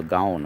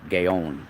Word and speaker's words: gaon: referred to as the vilna gaon or gayon or i guess there's like a a better hebrew way of pronouncing it but vilna is